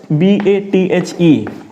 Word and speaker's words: bathe: तो बेद के लिए क्या होता है ना कि बेद के लिए आपका होगा BATHE, this is verb and this is noun. So you will pronounce it bathe, he is bathing, ठीक